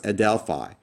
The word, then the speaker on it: ἀδελφαι: So smooth breathing marks are silent and add nothing to the pronunciation of the word. So this is pronounced "ah-del-fi."